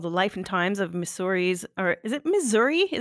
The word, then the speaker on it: Missouri: might meet four people that say at missouri missouri misery uh but the way that i pronounce it is is missouri and so it